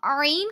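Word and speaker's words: ع: It is pronounced from the center of the throat, but the wind does not come out of your mouth.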